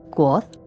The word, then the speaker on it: Kvothe: Me llamo Quoth, que se pronuncia Quoth.